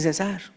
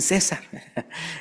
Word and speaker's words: cesar: Ahora bien, todos sabemos la cita que dice en Primera de Tesalonicenses 5:17, orad, orad sin cesar. Acuérdense, no tiene acento en la e. No, no es orar sin César.